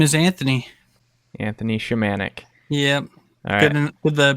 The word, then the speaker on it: Shimanek: guest today yes my name is Anthony Anthony shamanic yeah with the pronunciation was correct so yes it's Gail did